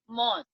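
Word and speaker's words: mosque: मॉस्क क्यों नहीं? Q silent है मॉस्क, क्यू इज साइलेंट। ये देखो, मॉस्क, और वहां जाके प्रेयर करते हैं।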